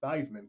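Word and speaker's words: Theismann: his chances of winning they decided to start pronouncing his name thyman because it rhes with Heisman but up until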